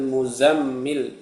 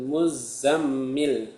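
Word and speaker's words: مُزَّمِّل: Zanya tasjid ya. Jangan ditasjid di mimnya saja ya. Jangan yang ditasdid di mimnya saja. Kalau yang ditasiti mimnya saja nanti bacanya ya ayyuhal muzammil. Muzammil itu salah. Yang benar ya ayyuhal muzzammil ya zanya diasid juga nam ya artinya wahai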